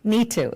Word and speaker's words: Neetu: Neetu, yes.